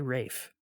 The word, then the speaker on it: Ralph: fines there it is it's spelled Ralph but I've heard people say Rafe weird there's someone screaming